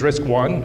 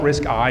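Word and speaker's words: RISC I: um so this is risk one and risk two notice these are called risk one and risk two not risk I and riskk I I so it's not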